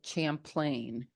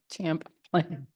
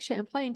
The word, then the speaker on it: Champlain: New York's Lake Champlain what is it called Lake Champlain if you want to pronounce it wrong like champ elain champ plane champ very good yes and um Lake